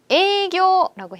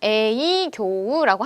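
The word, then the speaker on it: 営業: 에이교라고 해요. 자, 이거 에이교우라고 하셔도 되는데요. 연음 처리를 해요. 그래서 에이교라고 합니다.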